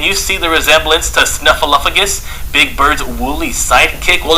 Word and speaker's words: Snuffleupagus: Snuffleupagus.